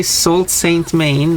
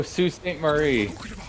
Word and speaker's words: Sault Ste. Marie: Well, how do you even pronounce this? STE. What is that a shortening for? Saint. Why would you shorten Saint to that? Yep. Okay, Sault Ste. Maine then.